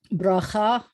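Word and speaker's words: ברכה: Bracha the accent was at the last syllable.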